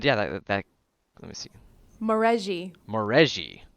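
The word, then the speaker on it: Maurezhi: It is a Morahazi, I think. Yeah, something like that. And yeah, that let me see. Moreji. That's how you pronounce it.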